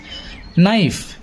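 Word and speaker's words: knife: যেমন কাইট যেমন কাইট কে নাইফ এখানে কিন্তু কে সাউন্ড করছে না তাহলে কে কখনো কখনো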